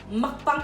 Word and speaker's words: mukbang: So as Aiden said, we're gonna do a mukbang.